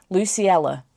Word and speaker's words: Luciella: Luciella, that's how you pronounce it, Luciella.